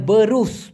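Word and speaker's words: berus: ব্রাশ সেটাকে বলা হয় বেরুস ব রুস উচ্চারণটা হবে বরুস স হ্যাঁ বারুস মানে হচ্ছে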